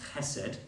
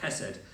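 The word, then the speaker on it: חסד: Now that word kindness, that's been translated kindness, the Hebrew word behind that is a word that's pronounced chesed, with a kind of but chesed.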